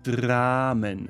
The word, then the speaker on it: Dramen: And the plural in German would be die Dramen. Das Drama, die Dramen. Not die Damen, that is the ladies, but die Dramen with an R there. R there. Die Dramen.